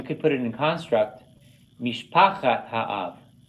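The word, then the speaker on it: משפחת האב: But you could put it in construct, mishpachat ha'av. See how I did the accent? I'm accenting where he has it in blue because that's where it doesn't fall in the last syllable.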